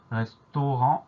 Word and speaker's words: restaurant: Donc le son en s'écrit à N et on a une lettre muette à la fin du mot restaurant, c'est le T auquel il faut penser.